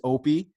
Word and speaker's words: Oppiy: It's Opie. You're good. All right. So today this is going to be a new segment called the Tik Tok Files, where interviewing people from TikTok. So this is Opie.